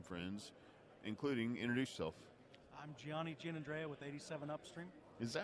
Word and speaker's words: Gianni Giannandrea: I'm Gianni Giannandrea with 87 Upstream. Is that how you pronounce it?